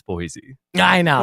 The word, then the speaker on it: Boise: It's pronounced Boise."